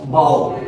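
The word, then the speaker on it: bow: और जब बोलेंगे बी ओ डब्ल्यू बो धनुष।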